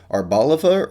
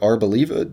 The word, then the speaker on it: Arboliva: and finally we have our boliva or arboliva depending on how you pronounce it I think it's